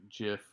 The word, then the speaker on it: gif: so it's called a soft g kinda like jiff like the peanut butter but jiffy cat so this is what this is so if you're kind of wondering whether it's gif or jiff it's just the same as giraffe gypsum gem gist or gin so just kind of